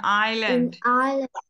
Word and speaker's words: island: inland an Island an island yes in this one we don't pronounce the s we have it's a silent s so we say Island